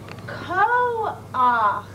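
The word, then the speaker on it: כֹּחַ: Cause at the end of the word, it's ach. At the end, it's ach. Oh, so in this word, you would pronounce it ko-ach, since it's a chet and an ah at the end of a word. Ko-ach.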